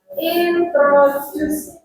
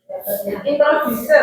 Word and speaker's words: introduce: Kemudian pronunciasinya yang perlu ditingkatkan yaitu introduce. Introducer bacanya apa? Introduce. Introduce. Juice ya. like juice.